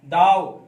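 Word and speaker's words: though: दाव, THUGH है, दाव पढ़ते हैं यद्यपि।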